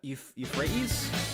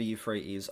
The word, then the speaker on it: Euphrates: River Euphrates? I think that's the Euphrates, is how you say that.